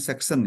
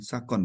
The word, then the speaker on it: Saxon: Jadi dibacanya Saxon ya, bukan Sakon ya tadi.